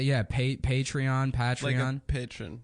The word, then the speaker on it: Patreon: the patreon I said I used to call it betray on like General patreon yeah that's how I thought you pronounced it and then somebody laughed at me and I was like